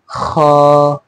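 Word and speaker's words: خاء: ये है ख, वेरी गुड, शेर की दहाड़ की तरह, ख, हाँ, ख, या फिर गला झाड़ने के लिए हम करते हैं ना, बिल्कुल उसी तरह।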